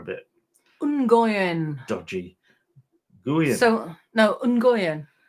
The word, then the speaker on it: Nguyen: So no, Nguyen. So it's actually the way it's spelled, really. Nguyen. No, Gwen.